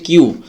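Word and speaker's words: queue: পরবর্তী শব্দটির উচ্চারণ হচ্ছে কিউ। এটা যদি আমরা উচ্চারণ করি তাহলে হচ্ছে যে কিউ ইউ এরকম একটা উচ্চারণ হয়। বাট এটা টোটাল উচ্চারণটি একটা বর্ণের উপরে। যেটা কিউ জাস্ট কিউর উচ্চারণটা করলেই হবে।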